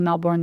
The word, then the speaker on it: Melbourne: in Australia, like Sydney, Melbourne, the Gold Coast, London, New York City. Melbourne is how you say it. Oh, Melbourne. Yeah, okay. you don't say the R's.